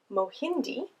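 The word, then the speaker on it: mahindi: family or friends or even on your own mohindi another helpful pronunciation ki mohindi is corn during kwanzaa one ear of corn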